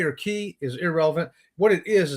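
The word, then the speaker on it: cay: How about K? C-A-Y. Some people pronounce it key. Oh, yeah. But to me, key is K-E-Y. C-A-Y looks like K to me.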